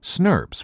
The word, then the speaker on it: snRNP: small nuclear ribonucleoprotein particles or snrnps pronounced snbs for short as the name suggests